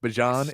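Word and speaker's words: Bijan: Uh, don't know if Bjon is going to get any snaps. Gotta say it right. Don't know if Bjon is gonna get any snaps tonight.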